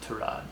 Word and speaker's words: Tyrod: I don't know, but I mean, it's definitely a shame for Tyrod, or his name's actually pronounced Tyrod.